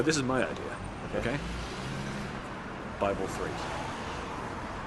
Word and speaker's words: Bi3LE: Bible 3. Except it's spelled Bi3LE. So like the middle B is a 3.